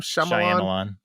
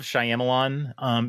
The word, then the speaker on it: Shyamalan: How does he pronounce the name? Shyamalan.